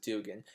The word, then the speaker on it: Duggan: has to do with Jerry Dugan or Duggan I I pronounce it Dugan Jerry Dugan is a